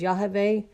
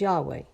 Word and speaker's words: Yahweh: It's the Hebrew letters of Yod-Heh-Vav-Heh, which is the English letters YHVH and is pronounced as Yahweh, or some pronounce it as Yahweh.